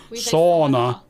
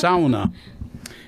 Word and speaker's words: sauna: sounds out oh that's that's the way it's pronounced so it's not sauna sauna it's sauna anyway what we did I made a little